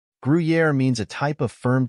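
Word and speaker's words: Gruyère: it is spelled as guui Yari the correct pronunciation of this word is guer guer means a type of firm cheese from Switzerland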